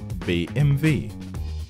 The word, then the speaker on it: BMW: ready let's go number one how to pronounce this brand name thus is BMV BMV number two Brown and the last